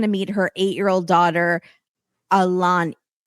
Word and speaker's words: Ailani: meet her 8-year-old daughter, Alani. It's spelled Ailani.